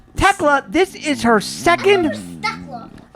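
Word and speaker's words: Thekla: This is her second Techla. I guess the H is silent.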